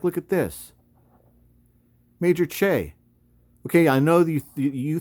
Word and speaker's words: Choi: you think that that says major Choi right there but if you've ever been to Korea or you have a Korean girlfriend or husband or wife or relative you know that that is typically pronounced Che so uh it says